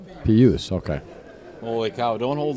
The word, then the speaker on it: Pijus: Pijus. Pijus.